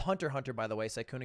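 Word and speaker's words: Hunter × Hunter: It's called Hunter Hunter, by the way. Syuna, you're not supposed to pronounce the X. Come on. Oh. Oh my god. Yeah, I pronounced it Hunter X Hunter on purpose to test.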